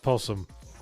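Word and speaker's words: opossum: Because opposum is pronounced possum.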